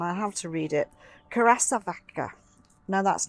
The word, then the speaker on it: curassavica: So this is Asclepias, and I have to read it, curassavica. No, that's not how you spell it.